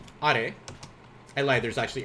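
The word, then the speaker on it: あれ: This one is also not are, my English speakers. This is are.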